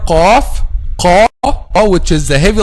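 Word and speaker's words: قاف: Okay, so if you pronounce letter qaf a light letter, it will change the meaning, and this is one of the common mistakes also.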